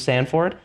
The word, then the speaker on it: Sanford: uh Sanford uh Stanford I don't know why I always say Ford it's like I read it in my head and then Stanford yeah that's how I say it it is spelled Sanford yeah I know but